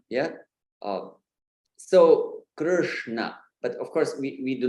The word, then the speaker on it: Krishna: you're getting that Krishna, It's not kri, there is no e sound there. Yeah, very often it's very much tempting to say Krishna, kri, but it's Krishna, and it is very